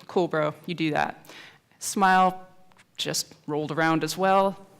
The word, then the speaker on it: SMIL: Yes, you can remember it's pronounced SMILE, like the smile.